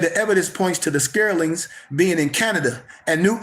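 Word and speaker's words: Skraelings: They met a group of short Africans whom they Vikings called the Scarlings.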